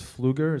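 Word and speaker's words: Pfluger: so we gotta sure my name is fluger it's spelled p f l u g e r I'm at 85 East Main Street Bayshore New York 11706.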